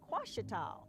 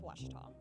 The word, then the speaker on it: Ouachita: Some folks think the O is a Q and they say Quashita. Hey, Ouachita. Ouachita. Back in Texas, everybody pronounces it Wichita, but really, it's Washita.